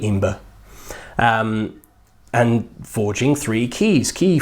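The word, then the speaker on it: Æmber: this resource amber amber amber amber people pronounce it it's got one of those a symbols from encyclopedia so probably ember and forging three keys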